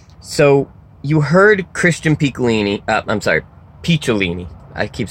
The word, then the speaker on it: Picciolini: So, you heard Christian Picciolini, Picciolini. I keep saying his name wrong, I'm an idiot. Picciolini.